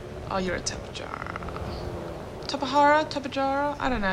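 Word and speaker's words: Tapejara: how to say it I always thought it was tepid jarrah but a lot of people quote Tahara so it probably is top Ihara cuz who knows it's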